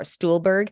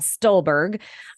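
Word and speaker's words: Stulberg: on here Brad stolberg I've said it wrong before stoolberg it's Brad stolberg um I highly encourage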